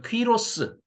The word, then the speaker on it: 퀴로스: 우리말로 고레스라고 번역이 돼 있는데 엄마 이름이 퀸죠. 퀴노스. 그러니까 퀴로스. 그러니까 세계적으로 그 항에 대해서는 퀴로스로 발음을 하고 그렇게 다 어 문헌이 돼 있습니다. 원래 이름이 고레스가 아니고 퀴로스입니다. 퀴노의 아들이다.